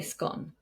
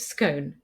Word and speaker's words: scone: So I say scone, but my grandfather always said scone.